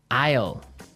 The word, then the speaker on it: Isle: l e Isle Isle it's a tricky word it sounds like the contraction of I will yeah but it's spelled so strangely right we don't pronounce the S the S is silent